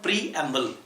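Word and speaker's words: preamble: कुछ लोग इसे मैंने देखे हैं प्रेम्बल बोलते हैं, इसका प्रोनाउंसिएशन प्रेम्बल। तो पहले तो वर्ड का प्रोनाउंसिएशन आप सही कीजिए। इस वर्ड का प्रोनाउंसिएशन है प्रीएम्बल।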